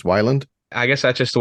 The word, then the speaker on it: Weiland: the rock magic so I've been mispronouncing it my whole life I've been saying Weyland this whole time it's Wyland I guess that's just